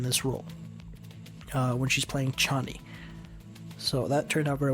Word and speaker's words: Chani: That's what it's spelled like I didn't get that until the end of the movie. 90% of the way I thought she was called Johnny.